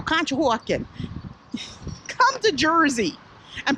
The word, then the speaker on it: Conshohocken: to tell that you're from Pennsylvania you could pronounce certain things like School kill Conshohocken and Contra Hawkins is actually a town outside